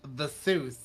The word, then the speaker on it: Theseus: Would it be the Seuss? What? Theseus pronounced in English, the Seuss.